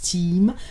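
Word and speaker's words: Tiime: Time, ça s'écrit pas comme Time, mais je pense que ça se prononce Team.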